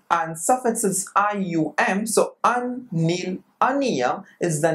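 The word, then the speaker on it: unnilunium: So what is the pronunciation of this name? Un, nil, unium is the name of the 101 elements.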